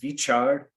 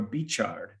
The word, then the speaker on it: Veechar: And also, let me share with you that the word Veechar, which in Gurmukhi is most commonly spelled with a V, a Vava, you can also have the equivalent spelling of a B as Baba. So it can either be Veechar or Beechard.